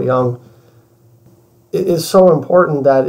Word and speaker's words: Jung: and stuff like that I want to say Jung but that's not how you say it but it's Carl Young it is so important